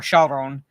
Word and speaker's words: Charon: Basically, you know, John Wick pays a gold coin to Charon or Charon, basically, but I pronounce it the Greek way.